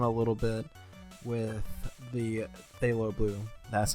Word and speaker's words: phthalo: killed it down a little bit with the phthalo blue that's how you say it so I